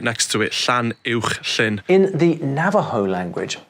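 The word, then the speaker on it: Llanuwchllyn: just outside Bala called Llanwchlyn, and it's got that ch sound and the sh right next to it, Llanwchlyn.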